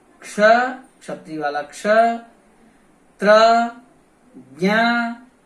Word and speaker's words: क्ष: इसका सही उच्चारण है क्ष, क्षत्रिय, वृक्ष, कक्षा। तो इसमें क और श मूर्धन्य श की ध्वनि आनी चाहिए, यही इसका शुद्ध उच्चारण है।